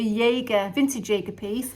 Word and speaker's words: Jaeger: ago this is actually a jaeger that's how you pronounce it a jaeger vintage jager piece it's